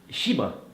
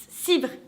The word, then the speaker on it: Chibre: Chibre. Non. Cibre. Le H se prononce pas.